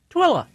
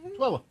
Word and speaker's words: Tooele: Tooele's a hard word to spell. Just apropos of nothing, I'll spell it for you. Tooele. Tooele. Twilla. Twilla. There you go.